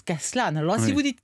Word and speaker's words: Castellane: s'écrit castellane médicaux stanley mais non ça se prononce cas cela n'a lorsque vous dites castellane là vous passez pour un voudrais quand même